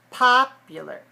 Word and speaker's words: popular: So it's not pa-pew, it's pa-pia.